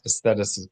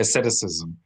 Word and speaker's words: asceticism: Milut hasadim means, okay, so piety in the Jewish framework is not aestheticism. Am I saying it right? Asceticism.